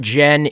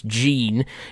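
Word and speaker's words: Gean: Jean that's their names it's not Jen it's Gan it's spelled g e a n and that's how you spell Gan for a girl and that's her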